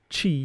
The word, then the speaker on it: Ches: This mantram is pronounced like this. Ches. Could be that the ch sound could be pronounced kh. Also, like more of a um Middle Eastern type of a ch, kh.